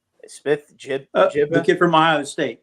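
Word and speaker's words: Smith-Njigba: Smith Najiba, I think that's how you pronounce it. Smith Najiba, the kid from Ohio State.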